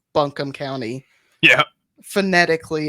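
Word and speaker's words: Buncombe: County was established in 1791 and it's actually pronounced bunkham County yeah gentically it's become be County so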